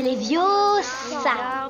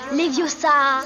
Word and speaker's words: Leviosa: Tu ne sais même pas le prononcer. C'est Leviosa. Et pas Leviosa.